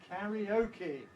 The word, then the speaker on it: karaoke: it in English it's karaoke karaoke you notice has two stresses why is it got two stresses because it's got two karaoke so if we